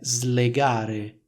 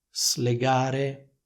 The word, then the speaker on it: slegare: Ecco la pronuncia è slegare l'hanno slegato è stato slegato c'è un suono che è simile a quello della S intervocalica che troviamo nella parola rosa riso un suono Z non un suono S Qual è l'errore che